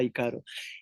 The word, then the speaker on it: ícaro: ser mitológico griego pues pero la pronunciación correcta sería y caro y caro son los